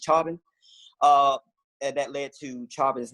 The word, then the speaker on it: Chauvin: I've been trying to figure out how to say his name. It's Chauvin.